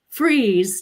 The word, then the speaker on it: Fries: want to welcome freeze to our show I know I'm really careful with your last name because in my mind before it was fries I'm like I better say it right how are you today